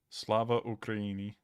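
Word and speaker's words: Слава Україні: Slava Ukraini. And let's see how to pronounce Glory to Ukraine in Ukrainian.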